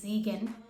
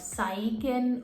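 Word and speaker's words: Siegen: सो the name of my city is जीगन। In English you कैन से इट एज़ साइगन ऑर सीगन।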